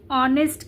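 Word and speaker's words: honest: जब हम लोग इस वर्ड को उच्चारित करते हैं, प्रोनाउंस करते हैं, तब हम लोग इसे ऑनेस्ट कहते हैं।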